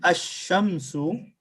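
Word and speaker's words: الشمس: But when I say Ash-Shamsu, did I say Al or I said Ash? Ash. Ash. So Right. we miss Lam. Lam is silent.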